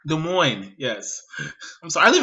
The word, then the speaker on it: Des Moines: You don't even have to enunciate. You really don't. It's just silent letters.